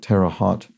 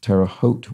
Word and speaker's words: Terre Haute: I pronounced something like Tara hot uh Indiana is pronounced Terre Haute with a long o like Hotel Terra Terre Haute so